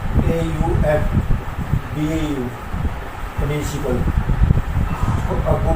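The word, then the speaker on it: Aufbau: पहले तो इसमें था तो कौन से इसमें अप टू AUF BAU principal, अबू principal के नाम से बोला जाता है। एफ साइलेंट होता है अबू प्रिंसिपल।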